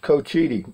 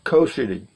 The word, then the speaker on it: Cochiti: done pretty good this is Joe Blow it's pronounced Cochiti it is you're right it's Co cuz I asked him I said is it Cochiti or Co City and she said it's Cochiti yeah thank you